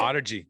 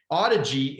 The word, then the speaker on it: Audigy: Is that how you say it? Audigy. That's correct. Audigy.